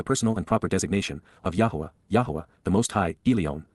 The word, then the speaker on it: Yahowah: and respectful and perfect just yahwa yahwa the proper pronunciation of the name of yloah god as directed in his Torah teaching regarding his higher